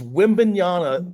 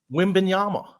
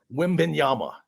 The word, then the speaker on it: Wembanyama: Wembanyama. What did I say? You said it with an N at the end. Yeah, I mess that up all the time. Wembanyama.